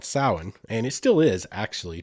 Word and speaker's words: Samhain: it was actually back then it was called samhain and it still is actually to this day